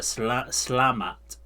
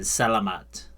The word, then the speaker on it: Selamat: Then when she says it her natural way, certain letters are almost breathed. So like the Selamat Siang, so she doesn't really pronounce the E at the beginning. So she does the Slamat, which would be S-L-A-M-A-T, rather than Selamat.